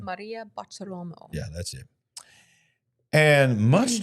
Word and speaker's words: Maria Bartiromo: Kash Patel and Dan Bongino were together interviewed by what's her name, Marta Rolamo. How do you say her name? Maria Bartiromo.